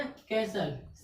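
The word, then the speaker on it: castle: इसमें एस के बाद क्या गया? टी आ गया। जब एस के बाद टी आया तो क्या हो गया? टी साइलेंट हो गया। ठीक। यानी क्या हो गया? कैसल। CASLE। कैसल।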